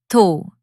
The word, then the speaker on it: though: Some people pronounce it like thou, rhyming with cow, but it should sound like though, rhyming with go.